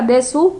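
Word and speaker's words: です: Puede que se escriba desu, pero se pronuncia des.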